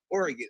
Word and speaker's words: Oregon: yeah my all right Oregon or Oregon how do you say it Oregon Oregon all right just guys if you're listening that's how you say it okay or or oron or it depends on what you know what side of the coin you live on some people say oron they put the gone